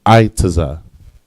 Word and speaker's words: aitaza: And the word for tree is aitaza. Aitaza. All right. Plain and simple, 2 letters, I and taza. All right, aitaza.